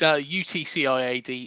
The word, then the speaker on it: UTCIAD: Because I don't know if you actually Yeah, of pronounce it. course. Go on. It's UTCIAD, up the cherries in all departments.